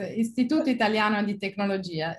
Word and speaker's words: Istituto Italiano di Tecnologia: who is a postdoctoral research fellow at the Istituto Italiano di Tecnologia. Did I get that right, Maria? Sorry for my pronunciation. Yes, was perfect. Istituto Italiano di Tecnologia, yes.